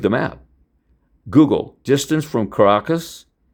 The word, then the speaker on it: Caracas: Actually, they call it Caracas. Like it's sort of like Nikola, not Nicholas, Nikola Tesla, Nikola Maduro, not Nicholas, right? So Caracas, but it's Caracas. You spell it Caracas, but they say Caracas, just like Nikola Tesla.